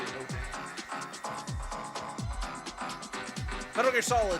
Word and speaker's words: Mojang: I think it's actually pronounced Mohang, but I say Mojang.